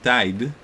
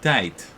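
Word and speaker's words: tijd: consonant written there so you'll have words written t-i-j-d and they're pronounced not tied but tight I mean kind of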